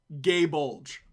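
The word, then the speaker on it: Gáe Bulg: If I'm remembering correctly, let me find the name so I don't how I would pronounce the name of his spear in Gaelic is Gay Bulge, is I believe what it is called.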